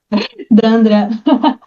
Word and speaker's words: Dandra: Danielle, also known as Dan, or this was the most unusual for me, Dandra. Am I saying that right? Dandra. Dandra. It's got like the Brazilian kind of Portuguese.